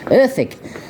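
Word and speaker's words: Erddig: on the Internet tomorrow at urdic ethic is pronounced earthic it's a National Trust property just five miles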